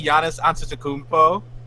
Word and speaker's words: Giannis Antetokounmpo: Mario can't pronounce Giannis out of the Kupo, hitting it with a hard G. Giannis out of the Kupo. Nobody can pronounce that. Mario, can you say Giannis Antetokounmpo?